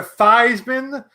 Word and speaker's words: Theismann: Theismann, who changed his name to Theismann to rhyme with a Heisman, and he didn't win the damn thing.